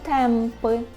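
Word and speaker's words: tępy: І подібно до «о» носового, так у нас було «а» з хвостиком, вимовляється як «м», якщо далі йде буква «б» або «п». Наприклад, «земби», «емби», так чуємо, «земби» – це зуби. Або «темпи», «темпи», «темпи» – тупий.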